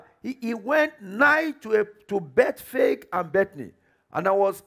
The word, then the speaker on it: Bethphage: And I was asking us which is the correct pronunciation. Is it Bethphage or is it Bethphage? So I went and looked at my Bible one more time. And I realized that the Greek pronunciation is actually Bethphage. But English as written, I believe, is what? Bethphage. And if you have a third pronunciation, it's acceptable.